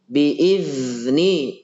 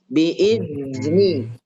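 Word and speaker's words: بإذن الله: Coba dipanjangin. Biar tidak ada pantulan. Biizni. Bukan biizni.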